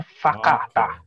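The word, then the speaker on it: whakatā: Terus habis itu ada WHA kata, ya, itu bacanya fakata. Oke. Ya, jadi penekanannya di V, Victor gitu.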